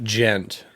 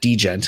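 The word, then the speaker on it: djent: And now I mean, essentially they were doing the gent. Yeah. Yeah. I heard, speaking of things that someone mispronounced, there was a friend of mine that always called it degent, and I was like, please don't.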